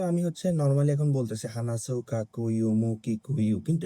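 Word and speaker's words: 話す: উ sound থাকে, যেমন হানাসু, মানে বলা, হানাসু, উ একটা উচ্চারণ আছে, সু বলেন না, আপনার মাথার মধ্যে চিন্তা করেন সু উচ্চারণ না। উচ্চারণটা শেষ হয়েছে উ দিয়ে, হানাসু।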